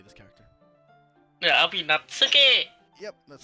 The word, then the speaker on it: Natsuki: Yeah, I'll be Natsuki!